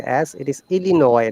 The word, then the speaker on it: Illinois: say justice the bliss illinois no they don't pronounce any s and this one okay